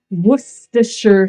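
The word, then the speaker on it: Worcestershire: So we are going to begin by adding wisher sauce. Yes, that's how you say it.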